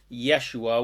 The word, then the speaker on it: Yeshua: The truth is Jesus, whose correctly pronounced name was Yeshua, was a perfectly divine, Christed source master of pure unconditional love, just like all the rest of us are.